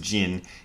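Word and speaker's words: 塵: it's a problem often that word gin uh pronounced Jin is is translated as dust uh and it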